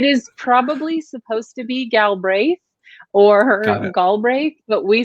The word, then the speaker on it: Galbraith: So I think we pronounce it Galbraith, like the second A doesn't exist, so it's Galbraith.